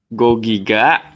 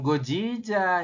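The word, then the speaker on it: 거기가: Go Giga, Nah, bukan Gojija ya.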